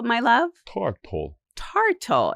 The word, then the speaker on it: tartle: Tartle. Who? Can you say tartal, my love? Tartal. Tartle.